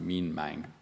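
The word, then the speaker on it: Minh Mạng: His name was Mihnmang, so I think it's pronounced Mean Mang. Correct me if I'm wrong.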